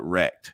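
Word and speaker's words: rekt: in the dust um we call it wrecked and it's spelled r-e-k-t so uh so people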